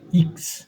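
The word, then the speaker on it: Ix: তারপরে দেখেন এরপরে হচ্ছে এটা হচ্ছে আপনারা বলেন এক্স, জার্মানে বলে ইক্স।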